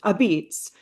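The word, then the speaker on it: Apizza: Our current exhibition, pronounced Abits, has brought in visitors from here and abroad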